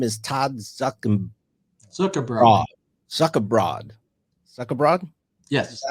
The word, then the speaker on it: Zuckerbrod: Zuckerbrod?